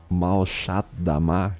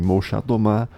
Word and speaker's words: Molchat Doma: Molchat Doma ou Malchat Dama, que eu acho que é o modo que se pronuncia em russo, é uma banda de post-punk da Bielorrússia.